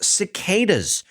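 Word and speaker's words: cdk8s: support for cdk 8s now cdk 8s is of course pronounced cicas except you have to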